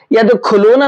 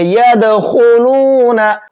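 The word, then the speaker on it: يدخلون: ख को मोटा करके पढ़ेंगे। यद खुलूना नहीं पढ़ेंगे। अगर यद खुलूना पढ़ेंगे तो यहां पर ये ख का प्रोनाउंसिएशन हो जाएगा। और ये ख उर्दू का वर्ड है। अरबी का नहीं है। ठीक है? तो इसको ख मोटा करेंगे।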